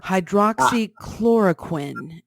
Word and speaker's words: hydroxychloroquine: Berger hydroxychloroquine am i pronouncing it correctly that's correct now there is a